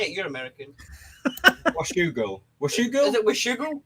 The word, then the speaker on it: Washougal: Washougal. Is it Washougal? Washougal.